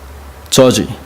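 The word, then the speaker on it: judge: 그래서 그 옛날부터 지금까지 저지를 꼭 젖지 이렇게 발음하는 습관이 있어가지고 제 딸한테 핀잔을 듣는데 오늘 본문을 보시면 우리가 말하는 판사, 저지, 판사는 한 명도 없어요.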